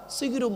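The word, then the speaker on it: সাহরি: কোরআনে আছে আদা সিহিরুম মুবিন, সেহেরুন মানে জাদু করা। আর সিনে জবত দিলে রাতের শেষ অংশের খাবারকে আরবিতে সাহারি বলে, সেহেরি নয়। তাহলে শব্দটা কি হবে? জোরে বলুন, সাহারি।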